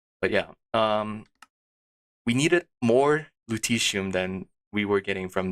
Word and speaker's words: lutetium: I'm not gonna try to pronounce that correctly. Yeah, lutetium? I'm gonna Google it now. Lutetium pronounce.